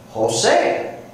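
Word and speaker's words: José: Jose. Jose. We don't spell it with an H, do we? Even though that J sounds like an H.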